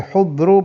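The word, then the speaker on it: حُضْر: Kalau di ithaf wal hudru bid-dhammi was-sukunid dhad. Jadi haknya dhammah, hudru.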